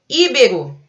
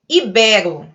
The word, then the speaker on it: ibero: Íbero, de Península Ibérica, mas não é íbero, é ibero. É uma palavra paroxítona, é ibero. Então, é pronunciado com E aberto.